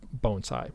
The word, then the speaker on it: bonsai: And if you say it bonsai, well, no big deal. But that's just the way that word is translated into the English language. Is that correct?